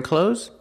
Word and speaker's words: clothes: you are you wearing clothes that's good pronunciation close use the long o like no and go CL and the Z sound like Zebra z clothes clothes I'm wearing clothes pronunciation clothing use the